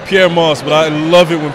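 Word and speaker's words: Pyer Moss: It's Pierre Moss, but I love it when people pronounce it wrong.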